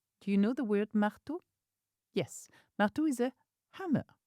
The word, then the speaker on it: marteau: Je prends souvent des outils avec moi comme une truelle ou un marteau.